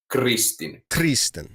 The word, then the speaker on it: Kristin: So if you can take the H away when you pronounce consonants in European names, that's a huge deal. So it's Kristin. That's it. Just a really short consonant without the Kristin.